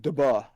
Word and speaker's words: Dubh: Gilly Or Dubuh, if you're talking about pronunciation in Scottish Gaelic, Dubh or Dhu, is a solitary male